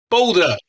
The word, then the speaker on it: BALDR: How do you say it? It's only got one vowel. Older. Boulder. We have to say it like a Queenslander.